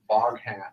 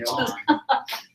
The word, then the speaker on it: Vaughan: It said Vaughn. Because when I was like, how do you spell that? And I was like, oh, Boghan. So I just kept thinking Boghan.